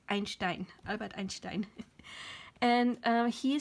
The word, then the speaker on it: Einstein: Americans say Einstein, Albert Einstein. But I'm a German. I can't say Einstein. It's Einstein, Albert Einstein.